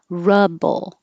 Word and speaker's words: rubble: round your lips ruble rubble ru you don't have to round your lips at all and the vowel is uh like up rubble rob this one you